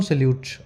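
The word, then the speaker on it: silhouette: double T ई अब मैं बोल रहा हूं सलूट अब थोड़ा समझने में और कैसे बना है तो मैंने इसकी लिख दी है स्पेलिंग तो इसी तरीके से जब कोई काम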